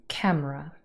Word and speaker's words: camera: The main stress here is on camera. Camera has two syllables and the first one is stressed.